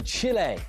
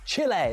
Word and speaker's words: Chile: Let's go to the USA and speak to Mark, who's a Forest fan, and Eduardo, who's in Chile. Chile, that's how you say it, Clinton, not Chile.